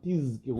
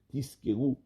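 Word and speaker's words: תזכרו: Il faut dire le man tizkeru. Il faut bien prononcer le zayin, que ça ne ressemble pas un peu à un sin, tizkeru.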